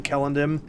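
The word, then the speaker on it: Celondim: developers pronounced it but he is right about the uh the c being hard in cinder and elvish so yeah it would have been kellendim or deem or however it's pronounced so my apologies for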